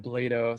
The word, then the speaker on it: Blado: It's Blado. Sorry about that. I should have, Rhymes with Play-Doh.